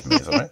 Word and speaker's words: Maisel: It is Maisel, right? You did it. You nailed it.